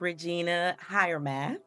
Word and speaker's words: Regina Hiremath: And you guys, the pronunciation of her full name is Regina Hiremath.